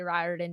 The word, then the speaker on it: Riordan: So yeah, I know we're trying to do our best to kind of fix that and say Riordan instead.